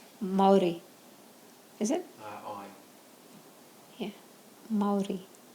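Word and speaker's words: Mauri: Yeah, Maori. Is that how you say it? How do you say it, Shelley? Yeah, you're right, Maori.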